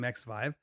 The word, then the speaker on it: XVIVE: Fast forward to maybe a couple of weeks ago, and the company XVIVE, I believe that's how you pronounce their name, XVIVE, contacted me and said, "Hey, we want you to review our products."